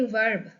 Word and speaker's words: verb: As I say verb, तो लगता होगा कि it's written as भी.